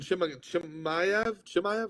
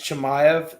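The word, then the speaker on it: Chimaev: uh nate diaz and shimaku maya how do you say that let's i think it's chemiev um i think i think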